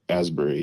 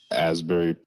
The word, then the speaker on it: Asbury Park: Asberry oh ashberry Asberry is that how they pronounce it Asberry asry Asbury yep hold on let me pull up this